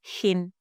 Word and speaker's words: Shein: you are going to search for shin or sh. Okay, the spelling is the same, different pronunciation.